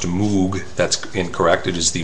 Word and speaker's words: Moog: That's M-O-O-G, Moog, commonly mispronounced Moog.